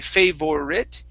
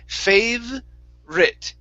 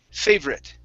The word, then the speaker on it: favorite: word favorite okay so remember the o here is not pronounced we don't say favorite it's fave rit favorite favorite there you go